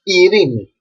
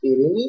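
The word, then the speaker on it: Ειρήνη: Epsilon plus iota together are pronounced E, like Italy. One word that starts with this letter combination is Irini, that means peace. This we can use it as a name as well, but whenever we use it as a name, we have to write the word Irini with capital Epsilon, like this. As you see over here, this epsilon is capital. And together are pronounced E. Not A, but E.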